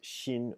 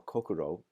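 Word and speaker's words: 心: there's a chinese character which is pronounced shin or kokuro in in japan i think it's pronounced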